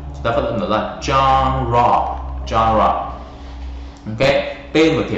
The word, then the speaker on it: genre: Từ này nó hơi lạ một chút, chúng ta phát âm nó là genre, genre.